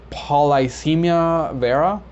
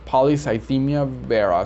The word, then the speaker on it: polycythemia vera: um a different pronunciation i found one that said polycemia vera i found another one that said polycythemia vera and of course the one that i'm gonna go with is polycythemia vera so i'm not sure